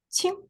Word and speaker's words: 清: The whole part, the pronunciation is 清. The first tone, 清.